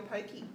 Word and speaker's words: poke: You can make it the base for your pokey. Yes, exactly. Poke. Is it poke or pokey? I think it's poke, but we all say pokey.